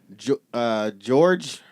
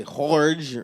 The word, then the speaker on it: Jorge: the lead singer, George, I want to say Jorge. I don't know how to say it in Spanish, but he's a Spanish guy. Jorge. Jorge? Yeah. Jorge Herrera. George. Jorge. Are you sure it's Jorge? That's like when you. Yeah, I'm sure.